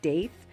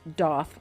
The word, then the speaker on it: daith: Okay, so here we are on our 1 month update on my Daith, and you may pronounce it Daith, but it is pronounced Doth, like goth.